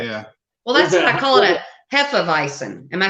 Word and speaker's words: Hefeweizen: flies but the the the W is a V with a hard thing there yeah well listen Hefeweizen am I saying it